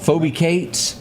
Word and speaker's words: Phoebe Cates: Phoebe Cates.